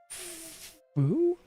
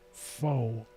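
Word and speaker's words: Pho: Fu. It's not faux. P H O FU.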